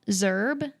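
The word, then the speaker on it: Szerb: It's called Oliver the Seventh by, I'm not going to say this right, but Antal Zerb, S-Z-E-R-B. I think Zerb is Hungarian. how I would probably pronounce it like that.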